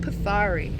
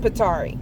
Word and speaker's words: Pithari: that my sister found, possibly called Pasari. If it's not pronounced that way, sorry. I think I have a Mediterranean ancestor and they're saying it's pronounced Petari.